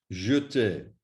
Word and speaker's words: jeter: Please note that little E must be pronounced as an E, otherwise it will sound incorrect and possibly not even understood. So, appeler, regarder, jeter.